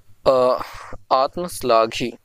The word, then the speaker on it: आत्मश्लाघी: आत्मश्लाघी, ये होगा सही इसका उच्चारण।